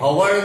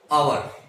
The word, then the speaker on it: hour: इसी तरह से HOUR जो है, ये हवर नहीं कहते, अवर. अ व र, अवर. तो ये अ से स्टार्ट हुआ, सो we will write N अवर.